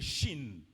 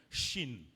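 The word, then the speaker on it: Shin: lettre en hébreu c'est le Chine Chine qui s'écrit s h i n Chine et en hébreu on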